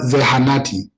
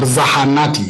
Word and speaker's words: zahanati: So a dispensary or a clinic, you can always use the word zehanati or zahanati. It can be ze or zahanati.